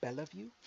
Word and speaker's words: Bellevue: video Rashad called Bellevue Bellevue yeah I guess because he's from the south and not from New York he doesn't realize you don't pronounce that second e in it this is what